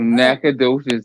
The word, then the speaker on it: Nacogdoches: Nacogdoches. That's how you pronounce it.